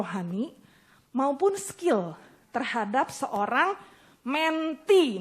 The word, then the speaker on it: mentee: maupun skill terhadap seorang menti namanya bacanya mente ya bukannya mentee eh ya bacanya menti mimpi itu adalah murid